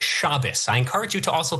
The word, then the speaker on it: Shabbos: Also, it's pronounced Shabbos.